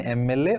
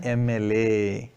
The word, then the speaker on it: MLA: The hotel, already known thing it is, was titled as an MLA. Here the word is, this acronym is started with M, but we are pronouncing it as A, MLA.